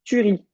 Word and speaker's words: tuerie: m'as dit la tuerie il y a pas d'accent sur le il y a pas d'accent sur le E donc c'est juste tu ris allez c'est compliqué d'apprendre